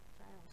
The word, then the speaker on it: gaol: Gaol. See the way it's spelled gaol?